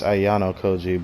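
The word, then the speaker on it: Ayanokoji: on y'all kanji okay I keep saying it wrong it's Ayano koji but I keep wanting to say it like that don't mind me all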